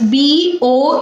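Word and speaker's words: bough: a branch of tree bo is b o u g h that is pronounced as bo and b-o-w that also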